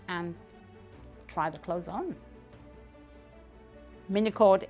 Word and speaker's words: Minycled: try the clothes on Mini cord is spelled m i n y c l e d so mini code the name is minimalist recycled so it's a combination